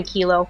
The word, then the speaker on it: Kiloie: so my first name is Kilo, and last name is. And if it's easier for you, you can just call me Kilo.